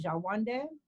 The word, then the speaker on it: Shawanda: full name is actually jawande which is actually the proper pronunciation of my last name shawanda that's how it was supposed to be said that's what it's how